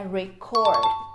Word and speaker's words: record: e nessa frase aqui a pronúncia correta é record cor é a sílaba tônica na última sílaba por quê porque aqui